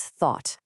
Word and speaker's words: thought: And our final word is thought, th ought. See how it rhymes with words like bought or not?